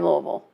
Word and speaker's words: Louisville: nobody says that no we say Louisville Louisville like you've got marbles in your mouth yeah if you got marbles in your mouth I don't like that level it's two syllables that's our gift in